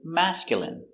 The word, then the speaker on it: masculine: Stress on the first syllable.